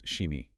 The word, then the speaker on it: SCHIMI: which is spelled SCHIMI, we have to apply the German rule where SCH makes an English "sh" sound. Oh right, so that cat becomes Shimi.